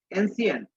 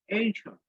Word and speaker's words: ancient: Many travelers from ancient Maryland, আমরা বলি এনসিয়েন্ট, আমরা বলি এটাকে এনসিয়েন্ট বলি, কিন্তু এটার উচ্চারণ হবে এনশিয়েন্ট, আর এখানে হবে মেরিনার, মেরিনার্স, এনশিয়েন্ট মেরিনার্স।